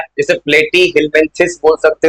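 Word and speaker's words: Platyhelminthes: नाम रटना है, जैसे प्लेटी हिलमेंथिस बोल सकते हो, सिंपल प्रोनाउंसिएशन याद करना, प्लेटी प्लेट है, उसके बाद हिलमेंथिस लिखा है, अब फिर बोल रहा है एसेल मेंथिस।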